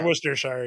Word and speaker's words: Worcestershire: it's Worcestershire. Yeah. It is Shire. You do say the Shire part over there. So You do? I thought it was just Worcester. Yeah, Cester is pronounced stir for some reason.